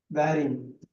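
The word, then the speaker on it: wearing: இருக்கும் பாருங்க உச்சரிப்புல வந்து ஆர் சைலென்ட் ஒன்னு படிக்கணும் ஆறு ஆற விட்டுரணும் வேரிங் வியரிங்னு சொல்லக்கூடாது வேரிங் இது வியர் இது வேர்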